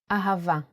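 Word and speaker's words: אהבה: so we don't need a DOT of bet pronounce a let's do it once more in handwriting ahava ahaa isn't it a beautiful word with a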